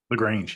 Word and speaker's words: LaGrange: LaGrange? LaGrange, yeah. LaGrange. Ooh, I was right. Yeah. You should have doubted yourself. You should not have doubted yourself 1 minute. So he lives in LaGrange, Kentucky with his wife, 2 daughters, and 3 dogs.